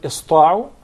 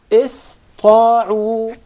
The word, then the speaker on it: ista'u: So it will be pronounced as sin, not sad. Okay. Ista'u.